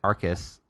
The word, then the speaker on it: Arkus: I was like, Arkus. No one doesn't pronounce it right. Right. When you look at a word with a K, it's a hard sound. Right. K is hard.